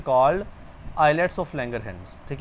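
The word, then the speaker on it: islets: आइलेट्स एस साइलेंट करके पढ़ना है आपने।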